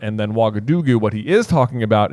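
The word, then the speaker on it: Ouagadougou: Wagadugu. Okay. Yeah. Real place. Wagadugu is a real place, and actually, the reason I'm pronouncing it correctly is because I looked it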